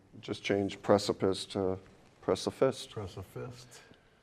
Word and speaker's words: Preciphist: Press a fist. But we kept the P in it, so instead of So it's unique.